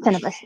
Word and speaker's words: Tenebris: It just starts with 13-year-old Kisara Tenebris. Is that how you say it? Tenebris. Mm-hmm.